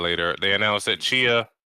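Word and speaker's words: Tchia: Chia, which we were pronouncing as Tachia before, is coming to PlayStation Plus Extra Tier and above in March.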